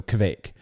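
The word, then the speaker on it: kveik: Seeing some, a Norwegian told me it's like quake, like earthquake, except with a V in it. So kvake.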